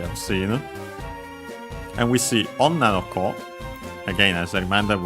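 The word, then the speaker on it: 女の子: Be careful that the accent is on the on na is accent on the last syllable on its own and is kept here. So it's an exception despite that the following possessive particles. So on na no ko, the accent is on the na.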